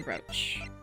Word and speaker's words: brooch: It's the brooch. There we go. Lemoir. Do you happen to remember this brooch? Oh, sorry, not brooch. Brooch. Brooch? No, it is brooch. I'm sorry. It's spelled brooch, said brooch.